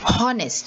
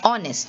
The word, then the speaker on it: honest: honest you don't say honest you say honest you start with the sound of the o so the h is silent again you will see